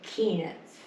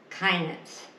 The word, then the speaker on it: Keenitz: But my dad changed it to Keenitz. Mm-hmm. And people would call it Kinitz. but that's not it.